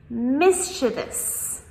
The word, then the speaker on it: mischievous: mischievous mischievous Now, a lot of people, including native speakers, try to pronounce this as mischievous. However, this is wrong.